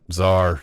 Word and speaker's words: Czar: just well I think being one syllable helps too yeah right because Caesar I mean it's basically the Russian version of Caesar but yeah two syllables no that's right Czar seems very just has an aggressive pronunciation yeah oh I can't